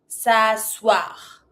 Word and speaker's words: s'asseoir: S'asseoir. S'asseoir. Don't pronounce the I.